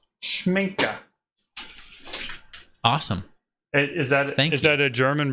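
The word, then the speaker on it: Schmincke: Schminka. Schminka. Awesome. Is that a German brand? I think so. All righty. Like the A in your name.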